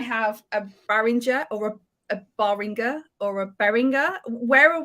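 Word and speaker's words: Baringer: I I furiously Googled it and it's Bryce berringer bearing very good that is the official pronunciation as listed by the school um so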